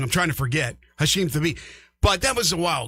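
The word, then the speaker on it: Hashim Thabeet: And obviously, with UConn, there was the guy named Hassan Thabit. Hashim. I knew I said it wrong. I'm trying to forget. Hashim Thabit.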